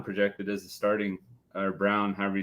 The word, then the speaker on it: Braun: as the starting or brown however you say it project as a starting yeah Brown yeah he it's spelled Brun but he pronounces it brown which is it is